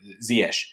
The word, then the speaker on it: Ziyech: you're north african so you're probably pronouncing ziesh um but the dutch way is obviously csm i know he plays